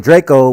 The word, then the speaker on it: Drakeo: The name Draco, which is exactly how you pronounce Draco, hey, I don't like how I wrote that.